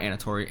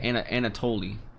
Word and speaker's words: Anatoly: Oh no, sorry, not Anatori, Anatoly. Anatoly.